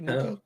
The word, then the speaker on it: Mookie: Did it rhyme with cookie? No, cookie, Mookie, Bookie, Bookie, Kookie. It would have rhymed with Kookie.